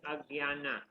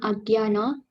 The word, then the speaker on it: Ajnana: Om Ajnana Timaratyasha This is Agyana. Agyan. Sir, can you help me? Okay. Om Agyana. Om Agyana Because I know it's a J, but actually you pronounce Agyana.